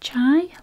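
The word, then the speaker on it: τσάι: Tea is pronounced chai, like chai latte.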